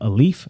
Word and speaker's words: Alef: So the company is called Aleph. It's spelled ALEF.